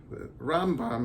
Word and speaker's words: Rambam: mic focus between the Rambam Rambam is supposed to be pronounced with the accent on the first syllable Ben maíam Rambam alphabetically